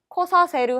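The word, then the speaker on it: 来させる: 자, 그 다음에 쿠르는 발음이 코로 바뀌니까 발음 주의하시고요. 코사세르 하면 오게 하다, 오게 시키다 라는 말이 되겠네요.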